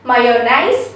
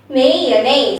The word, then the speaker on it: mayonnaise: a i s e actually it's pronounced nays not nice okay nays may your names may yeah mayonnaise let's take an example